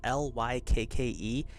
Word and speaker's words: Lykke: I had to actually go and look up how to say that name because it's spelled L-Y-K-K-E, but it's said Lykke.